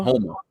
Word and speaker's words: Houma: Oma? Homa.